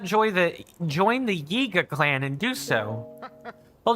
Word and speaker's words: Yiga: Gotta really pronounce that Y in Yiga clan, because if you don't, well, my mouth might just stick together in a way that might make it sound like Iga clan instead, like Iga Kogarashi, or